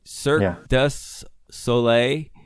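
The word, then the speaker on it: Cirque du Soleil: it be Circus, if I say it right, Cirque Du Solei?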